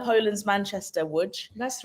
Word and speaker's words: Łódź: Łódź, yes, spelled like with an L, but it's like Yeah. same as Wrocław, Yeah. Łódź.